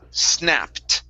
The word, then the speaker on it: snapped: Here instead of snapped, okay, the ed ending will sound like a T. The word is snapped.